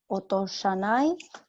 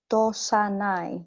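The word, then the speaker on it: 落とさない: Plain negative otoshanai. One more time. No, it's otosanai.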